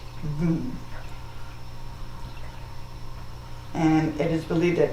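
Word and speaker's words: वं: The Sanskrit and symbol or our seed syllable is voom. It's spelled va m but it is pronounced voom.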